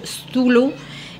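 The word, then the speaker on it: sthula: Y de ahí vamos a pasar al siguiente, que es el atributo grueso, que se escribe S-T-H-U-L-U, Stulu, y va a aumentar a Kapha, va a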